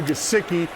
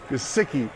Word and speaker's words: Gesicki: You hardly were going to throw it to Gesicki. I pronounced it wrong. Eli did a Ron Burgundy and screwed with my teleprompter phonetics. That's why I pronounced it wrong. Gesicki.